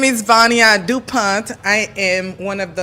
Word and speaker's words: Vania Dupont: to Shonda oh man we making it but near do Point am I pronouncing it right yeah so please tell people